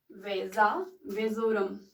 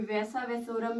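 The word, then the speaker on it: vasa vasorum: यहाँ पे हम देखते हैं, ठीक है, उसको हम बोलते हैं वेजा वेजोरम। वेजा वेजोरम। बहुत कुछ अलग प्रोनाउंस भी करते होंगे, वैसा वेसोरम भी बोल सकते हैं, लेकिन वेजा वेजोरम भी बोल सकते हैं।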